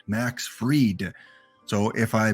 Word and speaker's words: Max Fried: It is Max Fried, not Max Fried, Max Fried. So if I mispronounce some names, feel free in the chat to educate me on the correct pronunciation.